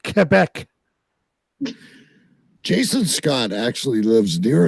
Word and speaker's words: Quebec: from the Quebec border cubec say it right KC watch watching hockey all these years it's called Quebec Jason Scott actually lives